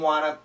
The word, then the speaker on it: wanna: a typical spelling w-a-n-n-a that's the natural pronunciation want to perfect want to good but the natural way wanna wanna and the n kills both t's wanna so here we have